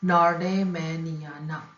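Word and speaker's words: nordmanniana: ये प्लांट है Abies नॉर्मेंडिना, नॉर्मेनाइंडिना, sorry ये प्लांट, इसका स्पीशीज का प्रोनाउंसिएशन है नॉर्डेमेनियाना, एबीज नॉर्डेमेनियाना, फैमिली पाइनेसी।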